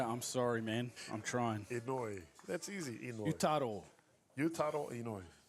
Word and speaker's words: Inouye: So the starting pitcher from Roosters, his name is actually pronounced Stitch up. Inouye. Inouye. Inouye.